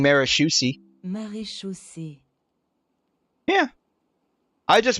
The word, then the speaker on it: Maréchaussée: Maréchaussée. Yeah. I just mispronounced the CH.